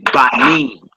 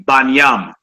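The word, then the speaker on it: בָּנִים: form, you would say Banim. Banim. You hear brothers that don't use vowels, they say Banyam. Banyam. All right. But that's how you say it. You wouldn't say Bans. You would say Banim.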